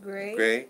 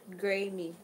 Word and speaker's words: Graham: This is pronounced Graham, not Grammy.